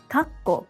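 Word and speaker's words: 括弧: Kakko means bracket. It has a small tsu in the middle, and is pronounced in 3 syllables.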